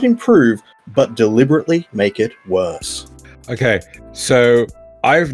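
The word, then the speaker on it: Worcester: of uh what the sauce and yes it's pronounced wor sauce as somebody that lives in the town that they make this I think I'm qualified for the job you're looking at werer source you're welcome and he's he's just like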